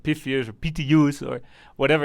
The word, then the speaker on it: Pythius: I said Pythius at the start. I said Pythius at the start. Then other people said Pythius or Pythius or whatever.